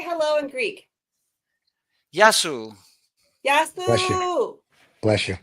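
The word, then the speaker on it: Γεια σου: Yasu if it's if you're talking to one, Yasu to you. But if you're talking to Okay. many, Yasas. But the plural, sas are many.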